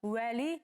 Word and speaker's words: вали: Вали пишем, уали говорим.